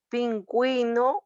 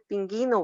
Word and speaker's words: pingüino: lo vamos a utilizar cuando la u debe de pronto debe ser pronunciada en sílabas que aquí verdad pingüino óigase muy bien no va a ser ping ino verdad porque sabemos que